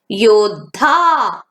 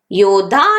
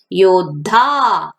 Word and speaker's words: योद्धा: प्रकार लिखना है, लेकिन उच्चारण करते समय दो वर्णों की आवाज एक साथ ही होनी चाहिए। यहाँ पे ध वर्ण से शब्द देखिए बच्चों और उसके उच्चारण भी देखिए। योद्धा, योद्धा नहीं कहते हैं, योद्धा।